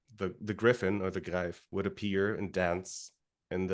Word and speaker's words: Greif: should have considered that EI particularly after living in Germany for three years should be pronounced gri and not grief I mean I I